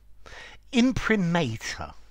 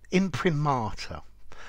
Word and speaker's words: imprimatur: hi there students in primator in primata I think both of these pronunciations are possible okay in primata is